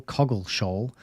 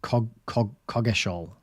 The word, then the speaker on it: Coggeshall: Lowell Coggeshall, that's a good name, I said it wrong, Coggeshall.